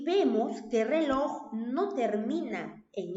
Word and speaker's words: reloj: Ahora pasemos a la siguiente palabra, reloj. ¿Cuántas sílabas tiene la palabra reloj? 2. Reloj. ¿Dónde está la mayor fuerza de voz? ¿Dónde está la sílaba tónica? En loj, ¿cierto? En la última sílaba.